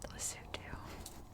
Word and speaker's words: Lesotho: of lesotho and yes it is pronounced lesotho sorry the cars tonight